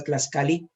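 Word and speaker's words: tlaxcalli: En náhuatl, la tortilla la conocían con el nombre de Tlaxcali. Se escribe Tlaxcali, pero bueno, se pronuncia Tlaxcali.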